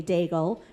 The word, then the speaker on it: Daigles: And now, without further ado, it gives me great pleasure to welcome our friends Matt and Kay Daigles, which rhymes with bagel.